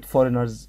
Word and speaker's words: foreigners: كلمة foreigners ناخدها لوحدها ونحفظها، foreigners، ونحط الجي، قصد كده نحط الجي كده نحشرها ونقول foreigners. جي ما بتتنطقش لكن هي اسمها foreigners.